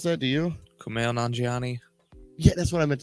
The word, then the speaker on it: Kumail Nanjiani: I don't know exactly how to pronounce that. Do you? Kumail Nanjiani.